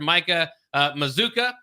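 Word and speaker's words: Micah Mazzccua: Nebraska landed offensive guard Micah Mazuka is how it is pronounced. Looks spelled a little bit different, so you have to kind of get used to that.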